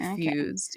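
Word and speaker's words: Phuz333d: yeah so yeah and that's spelled p h u z three three three d fused yeah it's a sick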